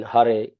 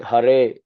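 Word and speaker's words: Hare: should be clearly heard the e in har is pronounced like in red but longer not e like in they as it sometimes heard the consonants ha ma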